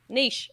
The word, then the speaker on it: niche: we say niche or niche? Oh, no. I'm already. Now I'm nervous again. Well, we could do a whole show around that. It's pretty easy. Niche. Niche. It's like you're baking a quiche.